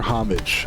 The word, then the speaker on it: homage: Or is it homage or homage? I thought it was homage. It's not the H is not supposed to be pronounced.